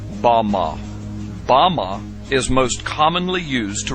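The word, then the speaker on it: במה: which Satan fell is Strong's Hebrew word 1116 pronounced Bama is most commonly used to refer to a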